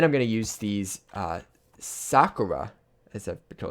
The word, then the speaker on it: sakura: And then I'm going to use these sakura, as I've been told it's pronounced, sakura leaves, to add some highlights, like some bushes, that kind of thing.